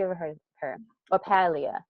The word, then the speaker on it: Paglia: to this lady Camille Paglia. I don't know if you ever heard of her. Or Paleia P. Her name is spelled Paglia, but it's Italian, so it's said differently.